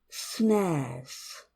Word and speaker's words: snares: pronunciation of that word snares snares snares yeah it's just one one syllable snares snares if you look at the pronunciation course we did before this you will understand that it has one vowel sound therefore one syllable some strategies again like